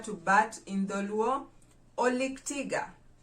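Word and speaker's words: olik tiga: bat in the luau oleg tiga oleg tiga oleg tiga refers to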